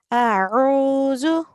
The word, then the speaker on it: أعوذ: So we do not prolong the alif because it carries a fatha. A'udhu.